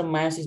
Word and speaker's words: meiosis: गर्छौ भन त गर्दैन मियोसिस भन्छु र म मायोसिस भन्छु यसलाई माइटोसिस मायोसिस र अमाइटोसिस मायोसिस the sense कि ई साइलेंट हुन्छ एम आई ओ एस आई एस मायोसिस ल सुन तीनटा मेथड हुन्छ